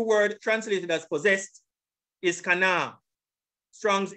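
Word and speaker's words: קָנָה: This is the pronunciation. Strong's H, 7069. Kana. Kana. Kana.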